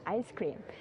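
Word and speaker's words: ISS-CREAM: this experiment ice cream we spell it as iss cream and pronounce it as ice cream and so you know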